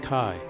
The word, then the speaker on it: chi: a large x in Greek the x is pronounced Kai here is a P with a sideways head